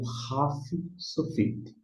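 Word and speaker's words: ך: Na forma final, todas as vezes que tiver na forma final, ele vai ter um som de raf. Aqui, ó. Seria o raf sofito.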